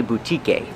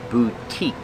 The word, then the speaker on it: boutique: The E at the end is silent. We do not say boutique. It's the long U, boo, and the long E, boutique.